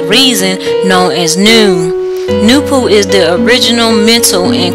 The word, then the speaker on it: Noopooh: The African original creation powers of the universes are properly and scientifically called Noopooh, pronounced N-O-O-P-O-O, Noopooh.